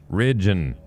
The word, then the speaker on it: Ridgen: exactly as It's Ridge with an N at the end. Ridgen.